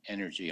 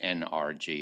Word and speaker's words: NRG: few comments related to energy oncology that's our pseudo acronym for the merger of rtog GOG nsabp it is not pronounced NRG its energy and we had our